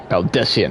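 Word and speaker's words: Baldesion: Baldessian, that's how you say it.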